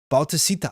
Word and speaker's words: Bautista: Bautista. I say it that many syllables.